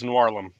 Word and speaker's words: Noirlem: Yep, Noir plus Harlem is Noirlum.